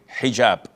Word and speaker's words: hijab: otel or Alo but this is an Arabic word so we're Muslims we have to say hijab secondly it is permissible